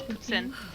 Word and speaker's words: poutine: How do you guys pronounce it? Poutine? Yeah. It's poutine.